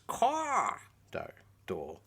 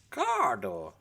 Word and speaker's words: Cawdor: So there's the ancient pronunciation derived from ancient Terran birds, and it's Caw-Door.